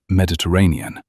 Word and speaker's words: Mediterranean: atlases, and was quietly correcting her pronunciation of Mediterranean. It has five syllables, Rosie, not three, with the weary patience